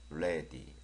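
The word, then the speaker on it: ready: 길게 하는 발음이라고 했었잖아요 그래서 약간 길게 물론 많이 늘리면 안 돼요 레디 이렇게 바르면 안 되고요 레디 레디 그다음에 보니까 티 발음은 귿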